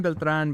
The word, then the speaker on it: Beltran: Your name is Beltr, but but what does it mean to be Beltrin? I hope I'm pronouncing it right. Sure. Yeah. Yeah. Well, it's Beltran, but it's, you know, like, uh, however, um, uh, yeah.